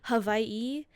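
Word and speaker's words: Hawaiʻi: It's more of a Hawaii with a V sound instead of the W.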